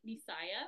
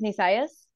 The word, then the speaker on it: Nisayas: Do you like to go by Nisaya? Am I saying it right? My stage name is Nisayas, like with the Okay.